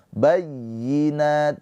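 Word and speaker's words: بينات: Bayyi di sini dinabr ya. Dinaber jangan jangan ditahan atau jangan dighunah. Bayyinat diaber itu ditekan bayyinat.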